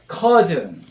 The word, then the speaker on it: cousin: 그다음에 cousin. Cousin. 오랜만에 사촌을 만나는데 키가 커진 상태로 왔네. 그래서 정확한 발음은 cousin하고 우리말로는 키가 커진 사촌. 그래서 커진 사촌 이렇게 연상하세요. 커진 사촌.